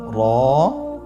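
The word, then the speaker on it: ر: হল র এবং যা র এবং যা র হরফটি এখানে আমরা পড় করে উচ্চারণ করব মোটা করে উচ্চারণ করব এবং র হরফটি এক আলিফ টেনে পড়ব আপনারা আমার সাথে বলুন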